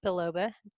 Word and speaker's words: biloba: So we pronounce it biloba. It's okay either way, but the bi means two.